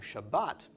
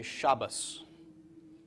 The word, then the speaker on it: Shabbat: from time to time so they will say Torah because there's a doggish in the table in Torah but instead of saying Shabbat they will say Shabbos because the table at the end of Shabbat does not have a doggish okay so you'll hear